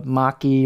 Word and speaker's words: machi: the handle that's technically known as the machi or machi depending on your pronunciation machi and what that is